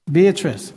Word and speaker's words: Beatrice: I'm sorry, I'm mispronouncing. I can't quite make out your first name. Beatrice. Beatrice.